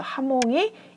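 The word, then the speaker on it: jamón: 발음이 납니다 저녁 하죠 우리 스페인의 대표 의식 뭐가 있죠 아목 있죠 하몽 2 호 따로 시작을 합니다 그래서 자몽이 아니라 스페인어를 발음하면 하모 이렇게 된다는 것을 기억하셔야 되겠죠 스페인어 에서만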